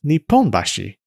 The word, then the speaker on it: Nipponbashi: There's a district in Tokyo called Nihonbashi, but there's a different district in Osaka with the same characters but pronounced Nipponbashi.